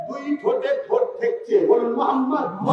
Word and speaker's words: মোহাম্মদ: বলুন মোহাম্মদ।